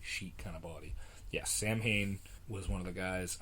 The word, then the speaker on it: Samhain: want to pronounce it, Samhain? No, his name was Sam Hain. Sam Hain. And that is why, to this day, I pronounce that the wrong way.